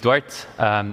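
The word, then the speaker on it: Duarte: so yeah hi everyone my name is dwart it's a Portuguese name very well pronounced I'm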